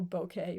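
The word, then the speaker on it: bokeh: And that's why you get those beautiful close-ups with beautiful bouquet, which is how I'm told to pronounce it.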